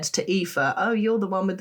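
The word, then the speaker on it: Aoife: So, Epha and Mave are our friends who we've talked about on the the pod many times before. And Epha is spelled A O I F E.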